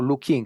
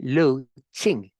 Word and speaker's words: Luqing: Por ejemplo, alguien que se llama Lu, o sea, se escribe Luqing, es como Lu King. No, eso se lee Lu Ching, Ching.